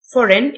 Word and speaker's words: foreign: المجفف abroad خارج البلاد foreign الجي سايلنت يعني اجنبي exterior او